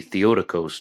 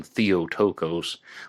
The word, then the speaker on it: Theotokos: And the murders occurred on different nights in the Eastern Orthodox calendar, the Theotokos nights. Excuse me for mispronouncing it in the past. I used to call them Theotokos, but I heard an interview with Randy Williams where he stated it's pronounced Theotokos.